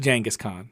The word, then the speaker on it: Genghis Khan: How do you pronounce it? Genghis Khan.